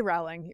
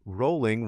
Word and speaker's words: Rowling: say it I say growling but so did I like growling yeah he says it's rolling rhymes with bowling all right JK rolling